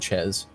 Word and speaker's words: Chez: They said Chez.